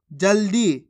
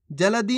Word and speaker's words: जल्दी: अब चलिए आगे देखिए जल्दी कैसे पढ़ेंगे जल्दी जलदी नहीं जल्दी फुग्गा कैसे पढ़ेंगे फुग्गा